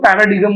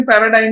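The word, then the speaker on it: paradigm: बहुत सारे लोग उसको पैराडिगम बोलते हैं। पैराडाइम मतलब उसका सही प्रोनाउंसिएशन पैराडाइम ही है।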